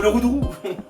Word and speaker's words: Roudourou: La route du Roudourou. Non, c'était presque ça du Le coup. Roudourou. Le comment? Le Roudourou. Comment? Le Roudourou.